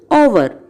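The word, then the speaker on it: o'er: That we can pronounce it as over. So first one meadows, second one call, third one fluttering, fourth one and all, and fifth one over.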